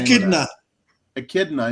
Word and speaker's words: echidna: How do you pronounce the name of Echidna. that? Echidna.